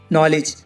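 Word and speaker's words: knowledge: knock knock माने खटखटाना night night माने शूरवीर नॉलेज नॉलेज माने ज्ञान अब देखो गाइस एल कब साइलेंट रहता है एम डी के एफ से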